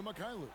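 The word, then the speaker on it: Mykhailiuk: can do anything with it the pass to makailu from deep three points is how you pronounce it and then plumley with the loose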